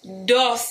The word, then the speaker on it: Dulce: from a company called Dulce you gotta say it like that Josey you know you gotta put that little twang on it got three scents that